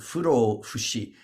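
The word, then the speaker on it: 不老不死: into Japanese, which is is pronounced furo fushi, and fu means not, and ro well, it means getting old, and then fu means not, and then shi means dying.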